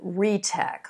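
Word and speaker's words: REETEC: definitive off-take agreement with re-tech or is that r-e-e-t-e-c how exactly do we pronounce that uh jeff that's uh that is 100 correct re-tech um so yeah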